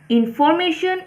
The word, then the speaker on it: information: ত কি কৈছে চোৱা notice that information and calculation are pronounced with the stress in the third syllable that is we say the third syllable more strongly than others এতিয়া চোৱা এটা এইখিনিতে